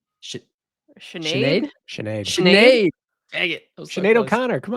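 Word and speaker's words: Sinéad: Then, hailing from Great Britain, I have watched how to pronounce this name 4 times today. We'll see if we get it right. Sinead. Sinead.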